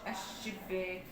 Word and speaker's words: الشباك: الشباك، بس بنقول الشباك، ما بننطقش اللام بقى، يعني احرصي ان انت وانت بتطلعي كلمه طبعا مفيش نطق للام.